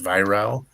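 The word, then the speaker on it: Weihrauch: It's spelled like Weirauch, uh, but it's pronounced Viral.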